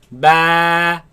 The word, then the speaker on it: ب: Ba. با Ba. با Ba. با Now this letter of course comes from the lips. Do not suck the lips in. Ba, ba, no. Keep the lips normal. Ba, ba, ba, ba, ba.